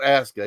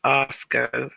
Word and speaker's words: Asuka: And it is pronounced Asuka.